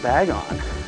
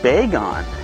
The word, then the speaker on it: Bagon: But did you know it's actually not pronounced Bagon? This was revealed on Twitter through Pokemon's Twitter account. It's actually Bagon for baby dragon.